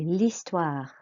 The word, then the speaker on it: l'histoire: L'histoire. L'histoire. Good. Remember, you do not pronounce the H, it's a silent H.